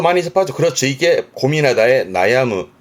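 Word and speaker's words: 悩む: 발음이 크노 크노이 정도고요. 동사도 많이 접하죠. 그렇죠? 이게 고민하다의 나야무 나야무 고민하고 뭔가 괴로워하고 내지는 아파서 고생하는 뭐 예를 들어서 두통에 고생한다.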